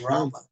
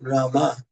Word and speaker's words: Rama: So Maharaj, we have a question that what's the difference between Rama and Ram? No difference, but the acharyas tell us to chant Rama.